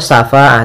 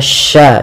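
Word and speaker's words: شفاعة: bertemu alif syafaatu wa lafal sya ini tidak boleh safaah tidak boleh dibaca dengan syin atau tsafa dengan tsa tapi dia sya sya kemudian pada lafal fa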